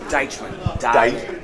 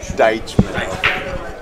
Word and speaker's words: Deitchman: Deitchman. Deitchman.